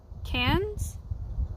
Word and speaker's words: Cairns: c-a-i-r-n-s can't Cairns camps cans okay what you say it like can s why okay can sea